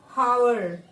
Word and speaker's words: hour: Madhu finished all her course within a hour. This is wrong, na? Yeah. What is error here? Article A is wrong here. Why? Because our noun is this R. H is silent.